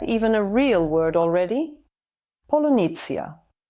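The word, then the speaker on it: полуниця: Polunitsya. No, it is actually pronounced "polunitsya".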